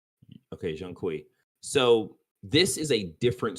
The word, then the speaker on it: Zhong Kui: Jean Qui. Okay, Jean Qui.